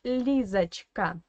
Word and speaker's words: Лизочка: And if you listen carefully to my explanation, you already know that this O in the middle should be pronounced as A. Because obviously, again, it is in an unstressed weak position.